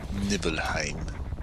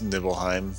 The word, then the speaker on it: Nibelheim: then we reach Nibelheim nibble nellum however you want to say it I think it's Nibelheim that's how I've always pronounced it at least how does